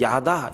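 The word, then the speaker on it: ידע: 여기서 알게 하며 깨닫게 하며 라고 하는 그 원래 단어의 발음이 야다 이렇게 얘기를 합니다.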